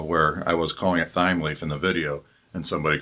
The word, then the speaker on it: Thymeleaf: now I won't point out that it is pronounced time leaf not time leaf when I first started using timely I have